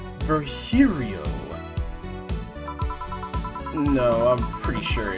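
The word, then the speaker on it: Virgilio: It's pronounced Verhiio. No, I'm pretty sure it's Vgilio.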